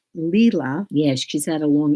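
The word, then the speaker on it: Leila: they're late okay so her name is actually pronounced lila yes she's had a long e over it it's leela and her last name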